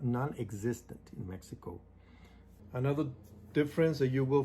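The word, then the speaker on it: México: when you go to mexico it's not mexico it's mexico even though it has their x we don't pronounce it it's mexico in the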